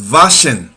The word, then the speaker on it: waschen: To wash is waschen. In German, W is pronounced like V. So it will not be washing, it will be waschen.